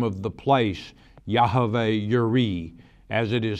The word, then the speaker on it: Jireh: in the Hebrew language, there is no letter J equivalent. So when this read Jehovah Jireh, I pronounce it Yahweh, the sacred name, Yireh, which is a Y equivalent in the Hebrew alphabet.